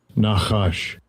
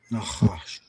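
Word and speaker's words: נחש: Nahash. Nahash. Let's go to the root word. The root word. Um, let him say it again. Strong's H5172. Nahash.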